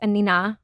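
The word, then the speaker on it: Anine: I thought it was Annie Bing. So everybody does. Oh, okay. Yes. Okay. I believe she's Swedish. Okay. I only recently learned that it's Anina.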